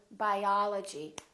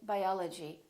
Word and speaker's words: biology: We don't say biology, we say biology, biology. I'm studying biology. Or if we say photography, I'm studying photography. I really love photography. So prolong those vowels when the syllable is stressed.